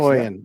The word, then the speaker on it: Haughian: Hogan.